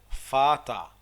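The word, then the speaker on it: Vater: الار اللي بتيجي في الاخر بقى، في اخر الكلمة قبل الايه، بتتعلق، ما بتتنطقش. دير زي دير فاتا، ما نطقتهاش لا هنا ولا هنا.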